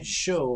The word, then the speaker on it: SjoW: but it is pronounced show i believe show just like a TV show in with a little bit of an extra j sound in there but i'm almost positive